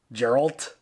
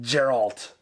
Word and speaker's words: Geralt: kind of giving to Geralt Geralt it's a hard G Gerald gerald yeah Daryl okay I got it Geralt um outside of like